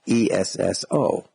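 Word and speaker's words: Esso: o e SS o if you pronounce the word which was made up ESS o it would sound like s o which sounds exactly like a so in Standard Oil s period over it s o and later on in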